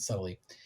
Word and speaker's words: subtly: I think the B is silent, subtly, get swept away by